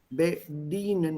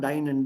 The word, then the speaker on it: bedienen: Bedienen, not dienen. D-I-E is D.